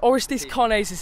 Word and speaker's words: Orestis Karnezis: Orestis Karnezis. I've pronounced it right for once.